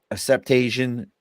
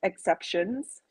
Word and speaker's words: Exceptions: with the like the acceptation, that whole movement? When did that all start getting into this? Well, so it's pronounced exceptions, like a play on words, like, hey, we're exceptions to the rule.